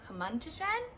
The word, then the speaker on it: hamantashen: It's hamantashen.